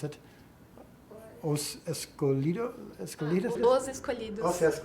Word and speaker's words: Os Escolhidos: or in Portuguese is what how do you pronounce it? Os Escolhidos? Os Escolhidos. Os Escolhidos, yes.